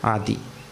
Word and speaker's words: Adi: This word has 2 syllables. 2 syllables. Adi.